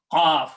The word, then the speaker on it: qaf: This is qaf, which come out from the throat, qaf, and kaf, which come out from the front of the mouth.